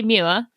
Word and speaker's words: Muir: coming out of you so I say mua but for the Americans it's m that's what Americans say so you can go